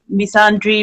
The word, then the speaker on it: misandry: So the first thing we want to talk about is I don't know the pronunciation, Misandry.